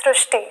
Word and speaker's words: Shrushti: pronounced as Ru so that is why the pronunciation goes STI so hereby the spelling sir so you are